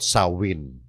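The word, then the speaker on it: Samhain: nga na kung tawagin a celtic Festival o sawin yung sam Hain sawin sawin Ang ah pronunciation yan tiningnan ko na sa YouTube yan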